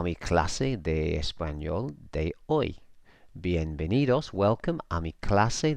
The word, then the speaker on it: hoy: clase de español de hoy and we here means today and just notice that you don't pronounce the H in Spanish ever so it's boy not hoy hoy kasi and director